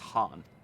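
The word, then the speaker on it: Khan: you will come ah it's pronounced han silent k i remember those clothes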